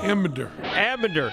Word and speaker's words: Ambinder: So scary that I mispronounced his name even though he's called Marc Ambinder. Ambinder.